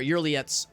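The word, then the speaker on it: Yrliet: Again, look at Uriet's... Or Yurliet's... That's how you pronounce it. Yurliet.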